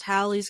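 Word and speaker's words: Halley: Comet is actually pronounced Hal's Comet because it has two L's it's it's it's pronounced like Valley Hi I'm Haley um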